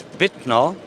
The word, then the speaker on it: Wittner: name of the company how is it supposed to be pronounced it's vitano thank you and this